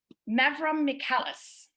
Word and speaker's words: Mavromichalis: All right, I'm going to do the introduction for Margarita Mavromichalis. I pronounced it right.